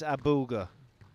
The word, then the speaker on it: Abouelghar: It's Abouelghar.